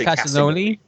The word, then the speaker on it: Castellini: And the artists were Dan Jurgens and Claudio Castellini. It's pronounced Castellini.